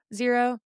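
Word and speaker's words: Xero: No, but I if I'm deadlifting, squatting, whatever, I'll either be barefoot or I'll wear my Zero barefoot shoes, which is spelled X E R O Zero.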